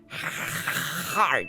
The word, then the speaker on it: Heart: Heart, ça se dit bien. Hein? Oui. Avec le H, c'est pas un H muet, celui-là.